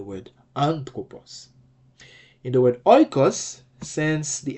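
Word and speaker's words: οἶκος: In the word oikos, it's still a smooth breathing mark, so it's oikos.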